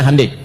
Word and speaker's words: Hyundai: Ya Hyundai saya tahu bahasanya, dibacanya Hyundai. Ya, apa saja Jepang masuk Piala Dunia, Korea mesti masuk.